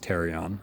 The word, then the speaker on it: pterion: It's called the pterion, has a silent P in the front, so pterion, but it's pronounced terion, okay?